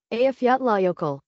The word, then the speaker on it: Eyjafjallajökull: Let's take a look the pronunciation for this one. Eyjafjallajökull.